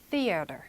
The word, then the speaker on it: theater: 자, 요것도 앞에 th 발음이요. the 이렇게 발음은 되지 않죠. theater 이렇게 발음이 됩니다.